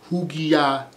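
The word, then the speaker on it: ὑγιαίνω: Bible, and that is word G5198, and it's pronounced hugiaeno, hugiaeno, and that means, guys, uncorrupt and healthy mind.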